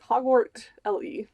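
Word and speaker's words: Hogwartle: the other one is hogwartal it's like hogwart le that's how it's spelled but that one they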